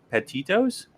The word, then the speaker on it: Petito: gabby how do you say the name gabby petitos petito gabby petito's okay gabby petito's disappearance doesn't